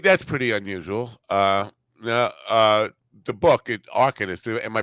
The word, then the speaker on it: Arcanist: The book, Arcanist. Am I pronouncing that right? First of all, that's your made-up word. So you described the. So it's pronounced Arcanist. Arcanist.